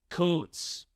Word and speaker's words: Kuntz: The last name of the German soccer coach we interviewed earlier this week is pronounced Koontz. Koontz. We apologize for our very vulgar mispronunciation. Man, I knew how to say his last name. I just having fun listening to you. To be fair, the man spells his last name Kuntz. Yeah, but he's German, man. It's Koontz.